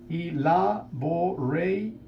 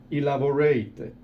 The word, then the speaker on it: elaborated: Y se agrega también otra sílaba. Elaborated. Ted es otra sílaba. Elaborated.